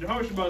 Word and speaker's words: Jehosheba: Yes, Jehosheba is how you pronounce her name. And Jehosheba is in what book of the Bible?